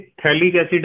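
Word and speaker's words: phthalic acid: थैलिक एसिड है ना, थैलिक एसिड। थैलिक एसिड का स्पेलिंग ऐसा होता है, PH होता है इसमें साइलेंट, ठीक है, पर थैलिक एसिड नहीं पढ़ना इसे।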